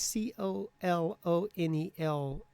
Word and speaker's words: colonel: And speaking of pronunciation, why is c o l o n e l pronounced colonel?